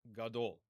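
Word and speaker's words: גדול: Same thing is true in the next word, gadol, which means big. Gimel has its own vowel, the kamatz, long A vowel. Then dalet does not have a vowel sign with it, associated with it. Therefore, cholam vav, it must be a vowel. The vav is not a consonant, gadol. Gadol.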